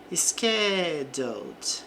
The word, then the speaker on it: scheduled: Schedled. Então aqui não pronuncie o e aqui no passado também.